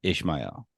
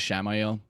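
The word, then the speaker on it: Ishamael: Yeah, Ishmael's like a Bible name, so that's probably why I'm pronouncing it like that. I think they've been using the pronunciation as Shamael.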